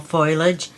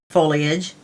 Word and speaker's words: foliage: six in our series fall foilage um foliage I don't know why I say it wrong every time it is not tin foil anyway um and what